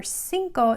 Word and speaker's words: cinco: cuatro cinco okay remember cinco sounds like an s but what letter is it it's the letter c because it has an e or an i after it's pronounced like an s so we just have